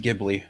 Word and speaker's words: Ghibli: but So, it's pronounced Ghibli.